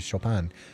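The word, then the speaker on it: Chopin: Reminds me of the surname of the musician Shopan is pronounced as Shopan. Yeah.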